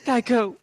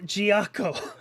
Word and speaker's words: Giaco: Oh, again with you, Geico, with the perfect timing. It's pronounced Giaco.